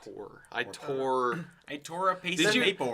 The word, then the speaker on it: Thor: I tore. I tore a piece Did of you paper. have you guys heard of like when people's names are spelled Thor but it's pronounced Tor?